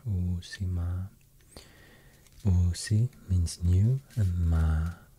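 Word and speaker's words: Uusimaa: and to pronounce so i will try to stress the the two double vowels here oh sima oc means new and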